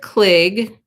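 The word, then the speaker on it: Cligg: was called elizabeth klig i think it's pronounced klig it's c-l-i-g-g oh let me show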